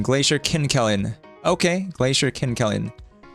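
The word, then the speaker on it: Kinkelin: So I learned the pronunciation there. Uhhuh. Right. Kinkellen. Glacier Kinkellen. Okay. Glacier Kellen.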